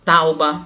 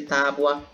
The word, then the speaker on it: tábua: É muito comum, erro de pronúncia seria dizer problema, certo? Ao invés de problema, tauba, ao invés de tábua.